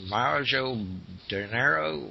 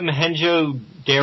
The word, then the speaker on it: Mohenjo-daro: get to mention is, I'm probably going to pronounce it wrong, is Mojo de Janeiro, where the city that's underground is. which is not far from Gobekli Tepe. Is that Mohenjo-Daro?